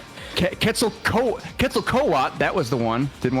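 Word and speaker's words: Quetzalcoatl: I need the pronunciation. Kettzel co kettle coat.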